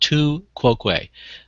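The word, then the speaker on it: tu quoque: yeah that's what the two ququ fallacy is oh and for those who it's pronounced two quo uh and it and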